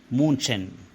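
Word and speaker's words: München: city called Munich although in Jewish it is pronounced as Munchen so boys in the first few minutes itself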